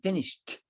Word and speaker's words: finished: will say they haven't finished we pronounce the ed it's pronounced like a t in this context is that clearer yeah